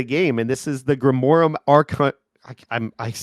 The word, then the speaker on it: Grimorum Arcanorum: One of 3 items made it into the game, and this is the Grimorum Arcanorum. I'm pronouncing it very slowly. Grimorum Arcanorum.